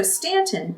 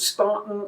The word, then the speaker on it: Staunton: If I used the word Staunton, I'd probably have aunts and uncles.